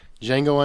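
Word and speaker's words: Django: director working today so D jeno unchain the D is silent December 25th Tarantino returns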